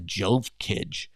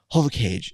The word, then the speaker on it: Jovkage: like what the is a j kid and then all of a sudden people are like no it's not what it is it's actually HOV cage and I go what is that and they're